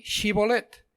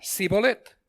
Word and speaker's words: shibolet: Dice, "Entonces le decían, ahora pues di shibolet." Y él decía, "Sibolet, porque no podía pronunciarlo correctamente."